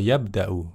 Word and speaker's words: يبدأ: Kalau yantahi tadi berhenti, kalau yabda itu sedang mulai ya. Pelakunya satu orang, perhatikan tambahannya ya di depan ya. Yabda يبدأ. atau yabda'u ya.